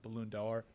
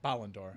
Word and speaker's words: Ballon d'Or: Benzema the reigning uh balloon dollar uh winner so I mispronounced that um uh Ballon d'Or yeah I always want to make it a balloon five dollars so I mean